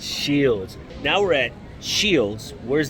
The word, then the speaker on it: Scheels: at shells shields and i can finally tell them how to pronounce it it's called shield it's shields now we're at shields